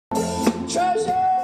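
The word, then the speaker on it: Tre'sure: Treasure is pronounced treasure, actually, but some people say treasure.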